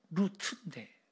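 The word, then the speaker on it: רוּת: 룻은요, 루트인데 발음이 루트, 우정이라는 뜻입니다.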